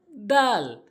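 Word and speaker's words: د: করব খ এরপর আসুন দাল দাল অর্থাৎ জিহ্বার আগাটা নিয়ে জিহ্বার আগাটা ভালো করে বুঝবেন জিহ্বার আগাটা নিয়ে সামনে দুটি দাঁতের আঘাতে লাগাতে হবে যেমন আমার দিকে লক্ষ্য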